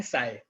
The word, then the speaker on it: psi: ठीक है, इसको हम बोलते हैं साई, PSI, P साइलेंट है तो इसको हम साई बोलते हैं।